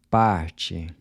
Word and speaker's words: parte: Parte. Night? Noite. So the “t-e” is pronounced like the “c-h” in chip.